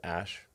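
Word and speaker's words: Æ: letter x and then the AE is like pronounced Ash musk has had 11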